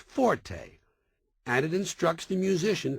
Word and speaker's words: forte: o r t used in music notation is pronounced Forte and it instructs the musician ition to play